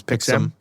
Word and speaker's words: Pixm: Pixelm, yeah, it's Pixelm.